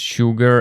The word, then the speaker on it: sugar: It's sugar and sure. Here S sounds like sh like in shower.